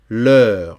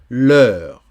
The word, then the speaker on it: l'heure: Vienne, la nuit, sonne, l'heure. Attention, EU, c'est le E français. Ouais, c'est le E français. EU, c'est E. C'est pas EU. Non, c'est E. L'heure.